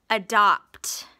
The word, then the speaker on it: adopt: adopt a puppy adopt we've got uh again the a at the beginning of the word is awah open syllable exception and Dot we've got the PT blend there at the end that's a little tricky and that's a closed syllable with a short o all right how about